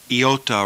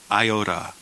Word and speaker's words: iota: for the comp it's the iot is iot rather than Iota L rather than l